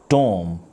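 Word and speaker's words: tomb: the correct pronunciation of the word is climb tom the correct pronunciation is tom com the correct pronunciation is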